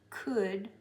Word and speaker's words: could: The L is silent. The D sound is going to It's very important. Good, wood. This is often said wood. It's wood. Wood, stood, should, could, would, which is pronounced just like this word, would, would.